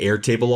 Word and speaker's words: Airtable: like in my case I'm saying air table all the time and a lot of the AI Bots will break it into two words but we all know